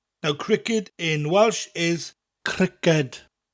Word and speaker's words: criced: Now cricket in Welsh is criced, criced, spelt C-R-I-C-E-D. So we don't have the letter K in Welsh. But this K sound that we get from the K in cricket, in Welsh it comes from that hard C sound.